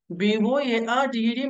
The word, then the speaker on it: boarded: whenever you find DED, whenever you find DED at the end of any English word, that DED must be pronounced like DID. So BOARDED must be pronounced like boarded, not boarded.